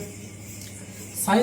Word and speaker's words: psi: That is the symbol of psi and pronounced as a psi.